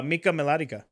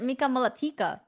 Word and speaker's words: Mika Melatika: one of my favorite things okay can you pronounce my full name uh Mika melodica hey you actually did it right um yeah that's all right A lot of people pronounce it Mika molatica melatika yeah sound like a character from Lord